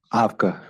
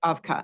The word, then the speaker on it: Avkha: Foster founder of and how do you pronounce evic afka afka yeah thank you afka I'll probably mess that